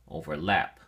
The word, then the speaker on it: overlap: look at your flashcard overlap has three syllables and your emphasis or stress is on the third syllable lap so we say overlap overlap it is used only